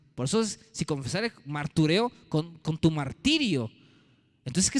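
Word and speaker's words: μαρτυρέω: confesar ahí viene una palabra griega que se pronuncia martureo, de un verbo griego que es martureo, de donde viene la palabra mártir.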